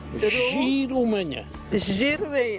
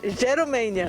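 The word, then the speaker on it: Jerumenha: Difícil mesmo é tentar pronunciar o nome. Giromênia. Jerumênia.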